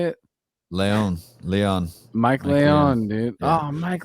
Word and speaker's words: Leon: name again uh did you say it Leon Leon Mike Leon dude oh Mike Leon's coming on